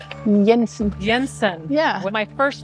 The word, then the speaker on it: Jensen: It's not pronounced Jensen. It's Jensen. Yensen.